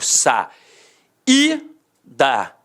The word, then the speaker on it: saída: Eu digo sa, I, da. O I teve som de quê? De I, teve som de vogal.